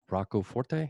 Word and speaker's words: Rocco Forte: You've worked for Millennium, Rocco Forte, is that how you say it?